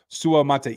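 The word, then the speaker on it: Suamataia: me crap all offseason Su Mata is the way that you pronounced that he said it himself in the presser yesterday so uh we got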